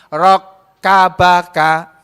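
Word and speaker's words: رَكَّبَكَ: Aapa yang dia kehendaki rok kabaka nih rok abad ya Jangan sampai salah bacanya Ya rok Kabag rok Kak casnya ada dua rok kabaka telah menyusun tubuhmu Allah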